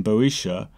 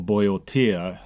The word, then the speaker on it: Boeotia: Thebes, a city in Boeotia, or Boeotia, if you're going to pronounce it that way, is the location for a vast number of mostly interconnected myths and stories.